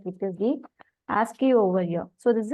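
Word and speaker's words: ASCII: exchange over here right so we'll pronounce it as asky here so in this so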